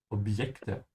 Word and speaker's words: Objekte: In English, when you say object, there's a D sound before. You say obd, obj. In German, there's no such thing. You say Objekte, Wunderobjekte.